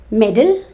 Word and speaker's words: meddle: award for achieving something middle and m e d d l e middle is when you interfere in matters those are I mean that's none of your business okay and which is not appreciated by one it was very annoying when you meddle in someone's Affairs m-e-d-d-l-e metal so metal metal